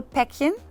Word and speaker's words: Päckchen: El ejemplo Päckchen, pues Päckchen ahí es corto, pero ¿por qué? Porque sigue CK y CK vale como doble consonante, entonces Ok. doble consonante siempre hace que la vocal alargue.